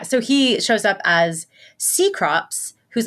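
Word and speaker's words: Cecrops: on, and so like I'm seeing it before I hear anyone say his name, and I'm like, oh, it's Kekrops. Seacrops, you say.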